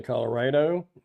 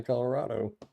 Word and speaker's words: Colorado: Some people say Colorado, some people say Colorado.